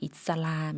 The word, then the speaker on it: อิสลาม: อิสลาม 이슬람 같은 경우에는 사실 영어식 표현이기 때문에 뭐 태국도 똑같이 발음을 하지만 다만 이살람이라고 표현한다는 거 기억해 주시면 될 것 같아요. 우리는 이슬람 이렇게 표현하는데요. 이살람 이렇게 읽는다.